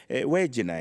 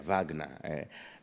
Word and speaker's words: Wagner: Yeah, Wagner. For us, we pronounce W as way, so we call them Wagner.